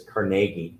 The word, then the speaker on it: Carnegie: Yeah, he pronounced his name as Carnegie, not Carnegie.